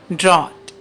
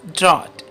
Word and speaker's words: drought: Drought. The correct pronunciation is drought.